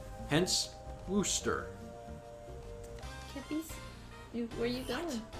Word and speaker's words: Worcester: It's actually pronounced Worcester. Hi, Kippy. The R, C, and E are silent, and a magic O takes their place. Hence, Worcester.